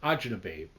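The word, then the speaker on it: acini di pepe: know you're going what ainab babe it looks like it's spelled aini de Pepe h c i n i d e p e p e but Italian called AA babe and it's a little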